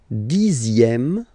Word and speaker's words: dixième: Le dixième, so remember, even if you've got this z, X here, you pronounce it z, dixième, dixième.